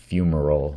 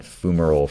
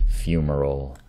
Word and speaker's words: fumarole: Actually, it's Fumarole. I've been calling it Fumarole for ages because I heard it in some video, some volcanism video years ago, but it's actually pronounced Fumarole, like the way it looks, rather than Fumarole.